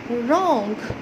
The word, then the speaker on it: wrong: रॉन्ग, यहाँ पर भी हम इसको प्रोनाउंस नहीं करेंगे।